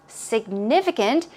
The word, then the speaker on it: significant: but here we go the stress goes on NIF significant and it means important